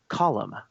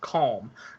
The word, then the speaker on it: Colm: I have heard now. I've always called him Cole Meany my entire life, but I'm Irish, and I know there's some questions. I have heard that it's actually pronounced column. I've heard both ways, and I'm not sure, honestly. It's in my head. I see it, and it looks like Colm to me. But yes, I have also heard it pronounced column. I've also heard it pronounced calm. So I'm honestly not sure.